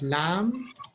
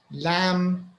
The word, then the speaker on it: lamb: have bomb we have lamb we have a doubt we have i think these are the ones i can think of all these words the b is silent so we say lamb doubt doubt undoubtedly okay